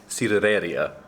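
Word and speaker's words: sidrería: We're going to, I'm going to say this really poorly, but I'll try, cidereria. Close-ish. It's like a cider bar, a cider restaurant, but that's the Spanish pronunciation with a Kiwi accent.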